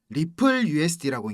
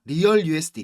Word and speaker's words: RLUSD: 자, 그리고 형님들, 이 RLUSD 이거 뭐라 읽어야 된다 했습니까? 리플 USD라고 읽는 겁니다. 그죠? 리얼 USD 이거 아닙니다.